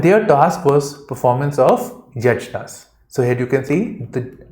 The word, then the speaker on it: yajna: So here you can see it's actually yagya, but because we speak in English, it becomes yajna. Okay, so J is actually pronounced at gear, but if you say this, you will be wrong.